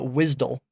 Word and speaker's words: WSDL: and then question mark wsdl that's the wisd that's how you pronounce it this information is